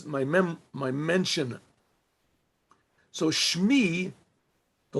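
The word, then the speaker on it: שמי: say it my my mem my mention so Shmi the letters mean this is a little bit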